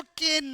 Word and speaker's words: can: आई कैन swim. I कैन swim. अच्छा इसको केन मत बोलना। चलो थोड़ा सा प्रोनाउंसिएशन का शुरुआत करें। कुछ दिनों से बताया नहीं मैंने आपको। इट्स कैन नो केन।